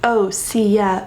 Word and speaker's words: OSEA: a rich history if you don't know it's pronounced OA ocean sun earth atmosphere this brand has such